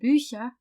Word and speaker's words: Bücher: Die Bücher. Please note that the CH in das Buch is pronounced ch, but in the plural, die Bücher, it's pronounced ch.